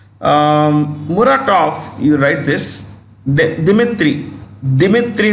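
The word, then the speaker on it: Muratov: write this dimitri dimitri murataf you have when you pronounce russian names like murata it's written with a v it's pronounced with an f the v becomes an f editor-in-chief editor-in-chief of novaya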